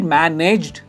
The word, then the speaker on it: managed: इज इट मैनेज्ड? आप इसे कहोगे मैनेज्ड, मैनेज्ड। जो एंड है वो ड में एंड होता है, एड नहीं आता है, इट्स मैनेज्ड। और स्ट्रेस है फर्स्ट पे।